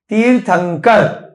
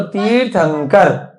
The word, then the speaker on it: तीर्थंकर: बोलने में क्या आ रहा है? तीर्थ अंकर। ना आ रहा है न का उच्चारण, परंतु उसके बाद क्या आ रहा है? क। तो क कौन से वर्ग में है? पहले वर्ग में है ना।